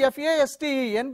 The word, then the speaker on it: fasten: So you say the spelling F-A-S-T-E-N, but it is pronounced as fasten.